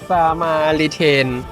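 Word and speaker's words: Samaritaine: มัน ออก เสียง ว่า อะไร นะ เธอ สมารีเทน นั่น แหละ แต่ เรา จะ เรียก ว่า สมาริัน มัน เป็น เหมือน ห้าง เก่า แก่ ของ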